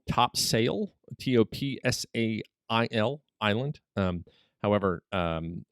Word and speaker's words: Topsail: north carolina it's spelled top sail t-o-p-s-a-i-l island um however um uh everyone who's if you're local you say topsail you don't say top sale and it was named